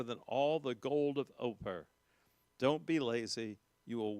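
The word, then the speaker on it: Ophir: all the gold of oper. Don't be lazy. You will waste your advantage. And the reason I put the gold of oper is spelled op hir.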